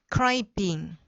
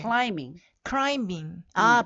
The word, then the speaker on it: climbing: climbing. 그러니까 climb잖아요. 그래서 네. climbing. B가 빠져요. climbing. 그쵸. 약간 묵음이죠.